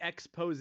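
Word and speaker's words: exposé: Hey, he's doing a big story, a big expose. A big That's how you expose.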